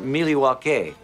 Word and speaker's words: Milwaukee: indian name yes pete it is actually it's pronounced miliwake which is algonquin for the good land along